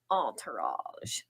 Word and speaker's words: Entourage: I like to say it like the Parisian way, Entourage.